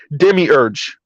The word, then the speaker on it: demiurge: Okay, thank you, Better You, and it's pronounced demiurge. Okay, demiurge feminism.